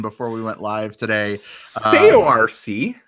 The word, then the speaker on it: Saoirse: And Will, how do you pronounce her name? Saoirse Ronan.